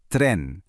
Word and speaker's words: tren: Notice that little word at the very end, tren. You'll hear a distinct rolled R.